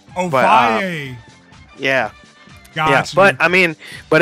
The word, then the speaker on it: Ovalle: It's pronounced Ovalle. Ovalle.